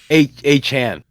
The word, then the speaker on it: Achane: Come on, Achane. Yes. Oh, no, it's actually Achane. Achane.